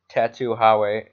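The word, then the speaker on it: Tatuaje: And I think the cigar brand you tried to pronounce is Tattoo Hawe.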